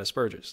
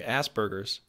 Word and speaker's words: Asperger's: jokes you know because most people say Asperger's which technically there is no B there it's a P and the way it's